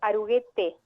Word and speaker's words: Aruguete: Una aclaración es Aruguete, o sea, la E final se pronuncia.